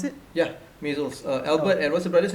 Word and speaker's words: Maysles: Albert and Is that how you pronounce it? yeah, Maysles.